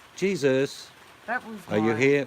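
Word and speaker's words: Jesús: It's pronounced Jesus.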